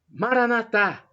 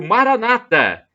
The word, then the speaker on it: Maranatha: Jesus eu clamo o Maranatha como dizemos nós católicos com a tônica na última sílaba ou Maranata o dizem os cristãos evangélicos ou protestantes com a tônica na penúltima sílaba não importa somos todos